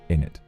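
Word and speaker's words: innit: Often pronounced without the t in it. Isn't it equals in it?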